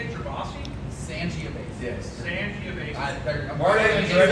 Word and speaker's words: Sangiovese: Sangiovese. I'm Marty worried and if there's a Gervais. backlash, there's probably going to be some. It's actually. That sounds great. Sangiovese.